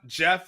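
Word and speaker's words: Geoff: into this I'm a particular one names John Jeff is spelled g-e-o-f-f okay so like I'm big on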